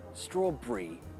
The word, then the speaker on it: strawberry: re so Li Bri straw Bri black Bri blue Bri all the berries although if you are saying the word Berry that's not shortened to Brie it's still Berry or if you want to pronounce it really Posh strawberry Library also I recommend watching